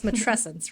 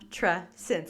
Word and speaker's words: Matrescence: It's Matrescence, right?